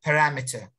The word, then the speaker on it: parameter: it yeah great so this parameter has how many syllables yemen very good it has four syllables very good and the stress syllable is the ram parameter very good great great